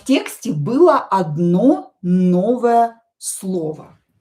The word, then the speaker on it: было: So, было, on that stressed, pronounced as a.